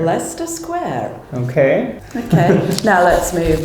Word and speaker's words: Leicester Square: If I were to pronounce this word, I would say Leicester Square. And nobody would understand you. It's Leicester Square, okay? Leicester Square. Leicester Square.